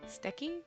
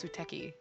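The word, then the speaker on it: すてき: Steki is Suteki. Do you say this? Sometimes the U you don't pronounce when it's Su, so I'm not sure, but I've never actually heard the lovely before.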